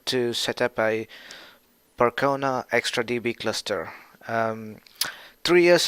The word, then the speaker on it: Percona: go further ahead and do the Percona or persona however you want to call it persona easier to pronounce but the actual waves Percona right Percona extra DB cluster